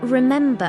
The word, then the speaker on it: remember: For example, the word remember has three syllables. Remember, remember the stress is on the second syllable.